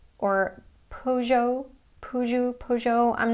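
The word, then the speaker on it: Peugeot: And this sound is the same or very close to the American double O sound as in the word book.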